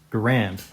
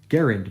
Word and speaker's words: Garand: the the clip taking grant or if you pronounce it properly garen because that's the actual guy's name he's canadian dude invented the garend rifle and uh that's that's how you say it so so the